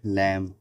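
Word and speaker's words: lamb: jolly was a little लैम यहां B silent रहे एम के बाद जस्ट बी अगर आता है तो वह साइलेंट रहता है जॉली वाज अ लिटिल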